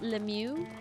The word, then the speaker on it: Lemieux: Last name is pronounced Lemieux. Lemieux. I like Lamau better.